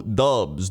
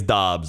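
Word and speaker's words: Doubs: and i think it's i think it's dobbs actually from what i remember but i like dubs it would be i mean they'll call if he's very good they'll call him dubs oh yeah they will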